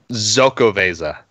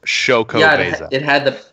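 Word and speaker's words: Xocoveza: really likes it and every time he called it zoko visa and I always thought that can't be right and apparently on the older bottles it said pronounced shoka the pronunciation on it yeah that's apparently gone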